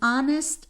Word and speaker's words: honest: n give me an honest answer here you have a consonant but I still need to use n because my H is silent so I still have